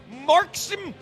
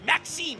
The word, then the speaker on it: Maksim: How do we spell Marksim? Maksim. How would you pronounce it? Maxime. Yeah, well, why did you put in? I didn't hear any R.